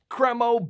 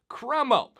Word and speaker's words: Cremo: cremo beard oil in 2024 and yes that is how you pronounce it I went through their YouTube videos until I found a video where they pronounced it cromo now this is a beard oil that was